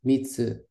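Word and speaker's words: みっつ: Hi, it's mitsu. Hi, mitsu. With the glottal stop.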